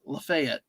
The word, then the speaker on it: Lafayette: They host Lafayette or Lefayet or what? There's a county in what I'm gonna say. Well, in in uh Florida there's a uh it's it's pronounced for a county lefet and in Purdue plays in West Lafayette.